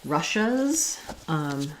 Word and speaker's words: Russia's: So for Russia, in English, we say this with the SH sound. It's first syllable stress, Russia. And then if I add the apostrophe, then it just adds a Z sound. So it sounds like Russia's. Russia's. And here my is going to be long and stressed. Here it's going to be short and reduced. Shas, Russia's. It's almost like no vowel there at all.